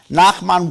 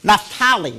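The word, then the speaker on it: Naphtali: pronounced his name uh Nakman Wesserly who takes his ideas and even goes a bit further. Natali, not Nakman.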